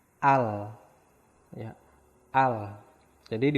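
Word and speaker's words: 알: Contoh, nah di sini ada contoh A dan real akhir, berarti dibacanya al.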